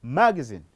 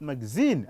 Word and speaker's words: magazine: This one, of course, if you are in Britain, you talk about magazine, not magazine as you're in America.